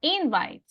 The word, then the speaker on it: invite: Invite. In. Diríamos invite, pero yo digo invite.